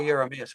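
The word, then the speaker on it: Jeremias: By the way, uh George, the right pronunciation you say is Yeah, I say yamas, but I mean that's it's German, you know, so the J at the beginning.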